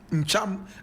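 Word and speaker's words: Ntcham: Ncham, and Ncham is spelled N-T-C-H-A-M.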